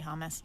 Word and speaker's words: hummus: I know some people say it like that, hummus. I just say hummus.